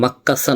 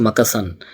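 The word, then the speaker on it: มักกะสัน: যেমন হচ্ছে গিয়ে আমরা যেটাকে লিখা আছে মাক্কাসান। ওরা বলছে মাকাসান।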